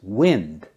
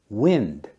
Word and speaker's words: wind: w i n d pronounced wind like the weather it means moving air the wind blew the leaves off the tree but when it's pronounced wind it means to twist or turn something don't forget to wind